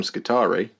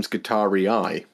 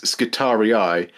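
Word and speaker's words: Skitarii: the the adaptive mechanicus you don't call them skittari you call them guitar eye uh that bloody latin again um yeah it's skittery eye because that's the plur that's the plural and i think that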